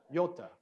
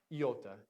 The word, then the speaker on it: iota: And I was telling some people that I've heard multiple kind of modern Greek pronunciations. It probably depends on where you are in Greece, kind of like how do you pronounce American English? Well, it kind of depends on where you are in America. But this could have more of a Y sound or more of a,